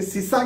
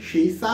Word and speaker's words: शीशा: शीशा एक धातु है जिसे अंग्रेजी में लेड भी कहा जाता है, कई लोग इसे सीसा कहते हैं, सही प्रोनाउंसिएशन शीशा है और लेड भी है।